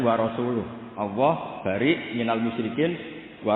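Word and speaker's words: وَرَسُولُهُ: Wa rasulih juga nggak ngurus Rasulnya. Kalau sama Rasul saja tidak ngurus, apalagi sama kita. Bersama Sayyidina Ali dibenarkan yang benar bacanya itu wa rasuluh.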